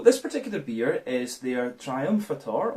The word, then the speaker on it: Triumphator: So this particular beer is their Triumphator, or Triumphator I guess you would pronounce it in German.